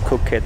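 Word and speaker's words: Koh Kret: laisse à la vidéo l'île de coquette juste ici s'écrit concrète mais ça se dit coquette c'est comme paquet ça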